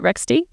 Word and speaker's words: Rextie: Country manager for Canada of rext am I pronouncing the company name right is it rext yeah awesome awesome okay well welcome um Matias